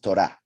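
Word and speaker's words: תורה: Torah is the plural of Torah. Torah is feminine, ends with a hey, pronounced a, Torah, therefore feminine.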